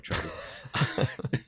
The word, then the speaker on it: Treblle: think you said that incorrectly. I think it's Treblle. Treblle? Treblle. No, I did meet the founder the other day, and he said it was Treblle, which It is Treblle.